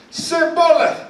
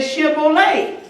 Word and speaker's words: Shibboleth: Now the Gileadites, they said Shibboleth. But the Ephraimites, they say Sibboleth.